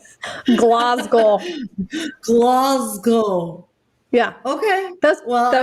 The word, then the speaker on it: Glasgow: born and raised in glasgow is how americans say it the scottish say it glasgow um so wait wait